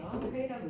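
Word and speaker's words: χ: 해 드리려고 해요이이 표시가 x 럼 되어 있지만 그랬 자로 카이에 카이라고 읽어요 CH 카이로 읽어요 카이의 제곱 검정이라 얘기를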